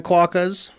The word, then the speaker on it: Quokka: All right, obviously the very opening are a lot of stuff we saw in the first video featuring the Quokkas.